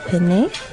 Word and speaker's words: penne: We said penne in English, in American English, but in proper Italian it would be Penne. penne. So you double pronounce the consonant.